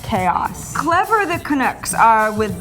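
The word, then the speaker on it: k-os: Number 5, I have a little Canuck hip hop for you called Chaos. That's K-O-S. Yes, pronounced Chaos.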